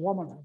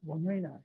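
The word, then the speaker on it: Wamena: That was called Wamina, but they now pronounce it Wamina.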